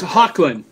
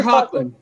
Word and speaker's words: Hoechlin: It's Hoechlin. Tyler Hoechlin.